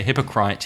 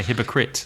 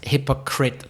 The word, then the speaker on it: hypocrite: right you don't say hypocrite you say hypocrite yeah and so many native speakers give that word wrong yeah ite but it's hypocrite that's a really weird one with a silent e again and the AI is